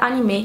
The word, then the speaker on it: anime: E eu já queria dizer aqui que eu falo anime, mas a pronúncia mais correta seria anime.